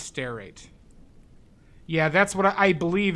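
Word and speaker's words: stearate: r a t e like steer rate but it's stair it's pronounced stair rate yeah that's what I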